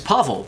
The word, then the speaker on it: Pavel: found out a lot the pronunciation of Pavel a or pasley is Pavel because he's Russian you can make beds